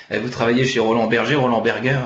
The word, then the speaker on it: Roland Berger: travaillez chez Roland Berger, Roland Berger, si on prend si on le prononce ouais, à l'allemand, du fondateur de ce cabinet de conseil international.